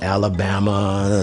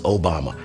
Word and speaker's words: Obama: He said, people don't know how to pronounce my name. They say Alabama, some say your mama, but the name is Obama.